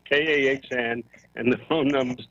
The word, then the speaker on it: Kahn: And his phone number is, his last name is spelled K-A-H-N, Kahn. Not Cohen.